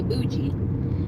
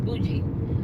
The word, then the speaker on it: bougie: I say bougie. She's like, Mom, it's not how you say it. It's bougie.